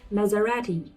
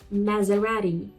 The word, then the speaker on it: Maserati: Then we have Maserati. Maserati. We say it's Maserati. In British English or American it is Maserati. But in Italian it is Maserati. Maserati or in British it is Maserati.